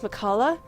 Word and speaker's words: McCulloch: Yeah, I know it's McCulloch, but I can't do the pronunciation towards the end.